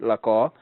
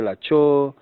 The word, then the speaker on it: Lako: What you'd call my third name, people really struggle to pronounce it, Lako. They either say Lacho or Lake, and those have completely different meanings.